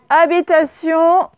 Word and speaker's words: Habitation: Habitation. Donc, avec un H muet en début.